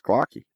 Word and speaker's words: Klocke: We were musing over the pronunciation, whether it was Klocke or Glocke. Yeah, and then he put it at the bottom, and it made it very easy to figure out. It's Klocke. It did.